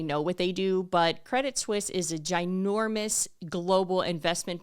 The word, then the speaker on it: Credit Suisse: what they do but Credit Suisse is a ginormous Global Investment Bank and financial services firm okay and they're founded out of Switzerland thus credit Swiss right even though it's not spelled like that and so they are